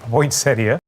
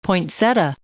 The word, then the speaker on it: poinsettia: poinsettia the giant ponce poinsettia poinsettia that's what's so great about poinsettias poinsettia either way is acceptable poinsettia seems slightly preferred but however you pronounce it this was a little